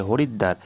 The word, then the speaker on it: হরিদ্বার: দয় ব আকার র এখানে দেখো দটা দুবার উচ্চারণ হচ্ছে হরিদ্বার আসসাদ এখানে দন্ত স